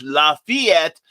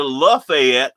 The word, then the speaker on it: Lafayette: And Scott Cracker says, which I have to pronounce the original French Lafayette and not in the proper Georgia Lafayette.